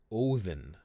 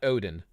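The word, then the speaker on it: Óðinn: of that would be in Old Norse we would say oen not Oden oen and in Germania they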